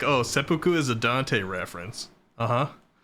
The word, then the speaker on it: seppuku: Let's pull a seppuku before we go in. Seppuku! That's how you say it. Gotta put the emphasis on the poo.